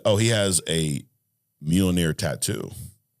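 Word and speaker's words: Mjölnir: How do you say it? Mjolnir? I say Mjolnir. Mjolnir. He gave me a spelling here. He broke it down. Mule-near. Mjolnir, whatever the fuck you want to call it.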